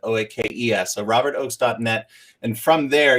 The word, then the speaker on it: Oakes: And there's a silent E in my last name that sometimes people miss, but OAKES.